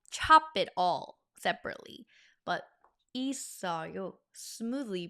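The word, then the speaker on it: 있어요: Notice how the seu carried over to the second syllable and that's why we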